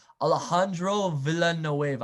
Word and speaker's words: Alejandro Villanueva: Alejandro Villanueva.